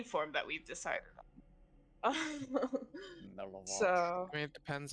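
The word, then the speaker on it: Milivoj: It's literally just pronounced Milavaj. Milavaj? Well, his name's Millie because I have trouble saying any form that we've decided on. Milavaj.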